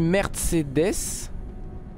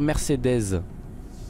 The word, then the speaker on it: Mercedes: déjà plus parce que moi j'ai toujours dit merde c'est death et vous dites il faut dire Mercedes Mercedes mais non parce que j'ai toujours dit Mercedes mais j'ai toujours dit